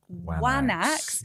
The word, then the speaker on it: anax: But, that word anax would initially have actually been pronounced wanax, and that comes up in the writing, the Linear B tablets of the late Bronze Age.